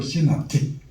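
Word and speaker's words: synoptic: 그래서 세 개는 공관복음서라 그러고 영어로 시납틱. 자, 발음해 봅시다.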